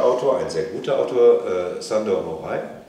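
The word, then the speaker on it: Sándor: ein sehr guter Autor Sandor wie spricht man richtig aus Schand Schand da gab es eine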